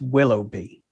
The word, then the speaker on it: Willoughby: So it's Willoughby. Willoughby. Yeah, I mean, if I just say Willoughby, most people, go like willow tree and a bee, and it's not how it's spelled.